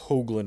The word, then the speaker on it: Hoagland: My last name is pronounced Hoagland with a long O sound.